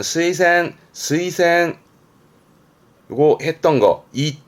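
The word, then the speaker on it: 推薦: 그니까이 추자가 추진하는 추도 있고 추천하는 추도 있습니다 발음은 스센 스이센 요거 했던 거이자 자 이동의 자입니다 그렇죠 추위가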